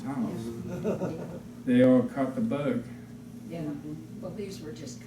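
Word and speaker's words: Bueg: The fellow there who came to do it was a young man, and his name was B-U-E-G. Bug, right. Bug. I asked him because I wasn't about to pronounce it bug.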